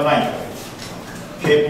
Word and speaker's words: knight: 的骑士叫 knight，K 不发音哦，西洋棋是叫 knight。不是 knight， knight 吧？对，K 不发音，K 好，不然好像弄错了。